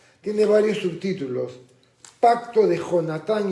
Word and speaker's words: Jonatán: He escuchado algunas personas que pronuncian Jonatán, pero es castellano y en el castellano la J se pronuncia jajejijoju. Así que el nombre no es Jonatán, sino Jonatán. O como el famoso futbolista